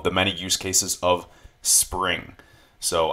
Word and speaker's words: XPRING: many use cases of spring so I know it says X Pring but it's actually pronounced spring I like it I